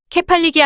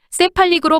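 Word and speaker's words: cephalic: 케팔릭이 아닌 세팔릭으로 발음합니다.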